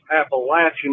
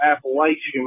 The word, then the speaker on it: Appalachian: the appalachin mountains and that's Appalachian not Appalachian like some of y'all pronounce it that just pisses me